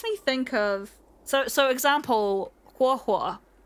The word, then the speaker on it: Huohuo: And it makes me think of, so example, Huohuo. So that starts with the hu sound and then an o sound, right?